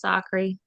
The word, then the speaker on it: Zachary: Everyone says my last name wrong. It's Sakri, but it's okay.